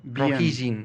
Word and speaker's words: Rohingya: pu roj en roj r o h i roji se pronuncia como J la H después viene una una G una y y una n rojin o rojin segú lo leas Y a dónde huyen